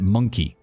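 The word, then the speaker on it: Mon-keigh: Okay, so even in game, they pronounce it monkey. They do. I purposely pronounce it Monkai, because the last thing I need is someone from Twitch coming in and being like, why is he calling people monkeys? At least with my pronunciation, I have a slight, difference there. Monkai, rather than just because of the extra letters in there.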